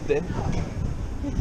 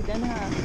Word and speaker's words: Den Haag: Y esta es la estación de tren de Den Haag. How do you say it? Yeah, you said it correctly. Den Haag. Den Haag.